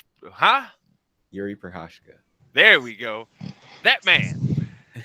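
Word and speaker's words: Jiří Procházka: Is Yuri Prohashka. Huh? Yuri Prohashka.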